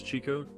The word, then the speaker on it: Chico: chicks his name marks is pronounced as Chico to reflect this interest diverging from the Spanish pronunciation often associated with the